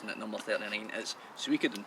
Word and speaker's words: Suikoden: backlog of JRPGs, and at number 39 is Suikoden 2. Say that again, I liked it. Suikoden 2. I've heard it pronounced different ways.